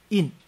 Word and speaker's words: 音: 所以他说那个 " 音 " 字呢，要读成 " 去声印 "、" 辟印 " 的意思